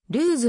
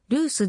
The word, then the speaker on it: ルース: 定かではないルースの発音はルーズではなくルースであるルースの読み間違いで